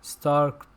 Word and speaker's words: Starck: played by Kathleen Quinlan, Stark. That's how you pronounce her name, right? Stark? Mhm. Yeah, because her last name is spelled Starck.